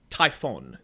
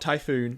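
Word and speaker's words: Typhon: planet we're focused on is tyon it's not typhoon there's no o it's 1 I swear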